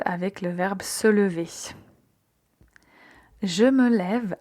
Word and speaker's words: lève: Donc au lieu de dire je me leve, on va dire je me lève. Et là, on a l'accent l'accent grave pour bien prononcer.